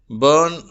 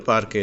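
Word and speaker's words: bury: அடுத்து இந்த யூ என்ற எழுத்துக்கு 5வது விதமான உச்சரிப்பு என்ன என்று பார்க்க இருக்கிறோம். அந்த உச்சரிப்பு ஏ என்று சொல்லி. இதற்கு உதாரண வார்த்தை பெரி.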